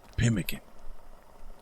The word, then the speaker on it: pemmican: Today we will be making Blackfoot Pemmican. Yes, Pemmican.